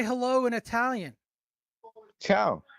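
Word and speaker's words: ciao: say hello in Italian chiao oh it's just chiao I thought so it's it's chow and goodbye hello and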